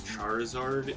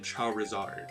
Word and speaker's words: Charizard: with charmander and charmeleon we pronounce the reptile portion of the name as we would the actual reptile you know you've got